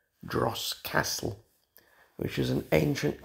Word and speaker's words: Droß: I will pronounce it wrong. I want to say Dross because of the B in it.